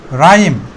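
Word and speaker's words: rhyme: ছন্দ বা তাল এরপরে আমরা যদি এটা দেখি রাইম কি বলব রাইম এখানে এইচটা সাইলান আটা উচ্চারিত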